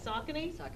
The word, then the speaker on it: Saucony: Saucony? I've always said it wrong, so that just only learned the correct word there.